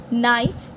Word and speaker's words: knife: the stationery shop next identify and write the silent letter in each word honest the silent word is H sine G knife K come L Autumn n fashion T right